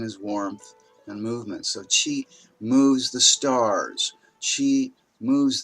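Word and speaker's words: Qi: Jing Shen and jigna so Chi spelled with AK you put your tongue against your teeth and say ch the CH sound - Chi Chi you don't say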